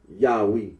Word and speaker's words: Yahweh: The scholarly consensus is that the original pronunciation of the tetragrammaton was Yahweh.